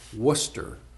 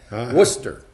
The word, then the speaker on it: Worcester: I said our it's Worcester yes the R is silent Oh what now I guess the are and the e is silent Worcester that's funny you can